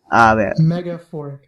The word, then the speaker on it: Megaphoric: I keep trying to say her name wrong. Megaphoric. Yeah, Megaphoric, and like who's metaphorical, but with the G.